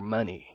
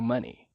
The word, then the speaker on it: money: And take all your money. And take all your money. Cuidado para não pronunciar money. A pronúncia correta é money. O EY no final tem o som de I.